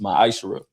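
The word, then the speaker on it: מעשר: It means 10th in Hebrew and is pronounced myisher.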